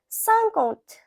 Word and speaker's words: cinquante: Now 50, so 50 is pronounced as cinquante.